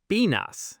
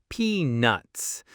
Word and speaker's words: peanuts: The trick here is to make sure you pronounce that T sound very clearly, very strongly in peanuts.